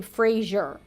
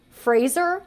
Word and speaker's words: Fraser: pronounce his last name Frasier he says it's like Fraser like Razer so I've seen a lot of people including a lot of like talk show hosts say Brendan Frazier but it's actually Brendan